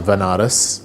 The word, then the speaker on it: Banaras: ended up going to banaras which is a place in india sometimes pronounced as vanaras which is a place